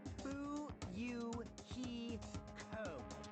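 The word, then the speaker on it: Fuyuhiko: last name is my first name is pronounced boo you he code i'm still an experienced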